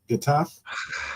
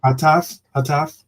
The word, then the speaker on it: Getafe: Is that how you pronounce it? Getafe? Getafe. Yeah. Hataf?